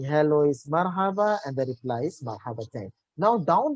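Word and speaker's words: مرحبا: you have to pronounce marhaba marhaba this is the arabic ascent if you say hello you have to say it should sound like two words connecting to each other this is the way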